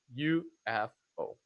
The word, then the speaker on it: UFO: So UFO. This one is pronounced as an initialism. It's letter by letter. UFO.